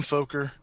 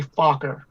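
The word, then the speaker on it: Fokker: funk or two dumb folker no no no no no no there's a double k there's a double k in that word a vowel before a double consonant is pronounced short it's actually focker so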